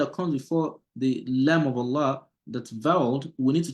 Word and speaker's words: الله: And so because of that, all these two Allah here are pronounced heavily. But because this one here, the lamb that comes before the word Allah, see the li is having a kasra, then the law will be pronounced lightly without you rolling or raising the tongue at the back, right?